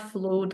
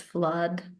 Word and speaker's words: flood: post the role play, it's not flood, guys, it's flood. Even Blood. though it is double O, which Ah, normally is pronounced as an oo sound, noodle, for instance, but in this particular